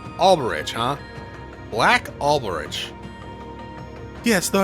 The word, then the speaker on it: Alberich: I might be pronouncing that wrong. No, apparently text-to-speech says I'm pronouncing that right. Alberich, huh?